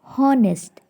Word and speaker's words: honest: Second, honest. H is silent letter.